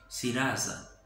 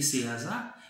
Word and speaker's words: Serasa: gain ça qui c'est Serasa qui écrit S-E-R-A-S-A. Dans le pays Brésil nous connaissons prononcer comme Serasa.